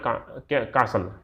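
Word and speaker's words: castle: Which I कॉल्ड माई कासल, है ना, कासल, यहाँ पर टी जो है उसको सब साइलेंट बोलेंगे।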